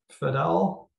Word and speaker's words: Fidel: Fidel, I'm sorry on the pronunciation. No, you pronounced it correctly.